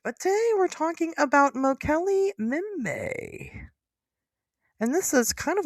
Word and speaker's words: Mokele-Mbembe: Yeah, Mokele-Mbembe. The first B in Mbembe is silence.